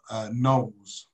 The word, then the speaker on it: gnoll: see a mob of gnolls making their Gnolls? No, I hate gnolls. a gnoll. With a silent G.